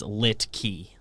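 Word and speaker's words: Luetge: hybrid i've been saying licky licky it's l-u-e but but somehow it's like an i sound like it doesn't look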